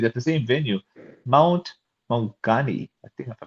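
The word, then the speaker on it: Maunganui: Mount Mongani, I think if I pronounced it right. Mount Monganui.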